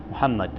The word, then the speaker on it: Muhammad: En esta ocasión tenemos como invitado especial a Muhammad, así que se pronuncia. Muhammad.